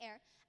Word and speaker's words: heir: John, who wrote Murders in the Air, as you probably noticed on your program, air is spelled H-E-I-R.